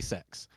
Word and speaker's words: CeX: here called uh it's it's the letters c-e-x everyone pronounces it CeX on their adverts they say sex no yes no one calls it sex god um that's so